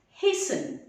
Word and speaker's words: hasten: In the same way, this one is hasten.